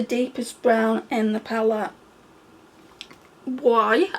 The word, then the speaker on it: Boie: Boie, I think that's how you pronounce it.